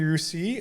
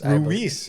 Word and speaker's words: Ruiz: Sophie Rousi, uh I probably pronounced that wrong. Ruise. Sophie Ruiz scored twice and added one assist.